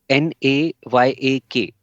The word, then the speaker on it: Nayak: n y a niak n a y a k n okay okay n a y a k okay now I've got it almost like kayak yeah rhymes with that yeah so Nayak is